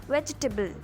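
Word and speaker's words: vegetable: इसका सही प्रोनाउंसिएशन है वेजिटेबल। यहाँ पे टेबल नहीं बोलना है, लास्ट में बल बोलना, BL होगा।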